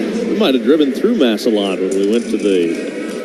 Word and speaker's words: Massillon: Is it Massillon, Ohio? That's where he was born? If that's how you pronounce it.